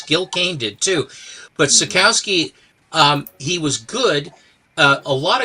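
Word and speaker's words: Sekowsky: Mike Savowski. Mike Sikowski.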